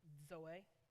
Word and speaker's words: zoe: Now, the word used here is Zoe. I know that sounds very complex. It's literally spelled like Zoe, Z-O-E.